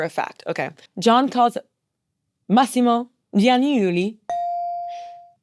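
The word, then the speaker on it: Massimo Giannulli: Massimo Gianniuli.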